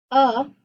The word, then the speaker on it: alone: So open syllable, that's A is going to sound like an In the word alone. That A is considered an open syllable, but it is a schwa. I don't say alone, I say alone.